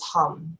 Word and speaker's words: hum: ananda and then the second word is hum like you're humming oh yes so we'll